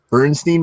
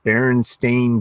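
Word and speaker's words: Berenstain: wanted to go into that Bernstein Bears apparently is spelled Baron stain so yeah we got to call them Baron stain Bears now it's really weird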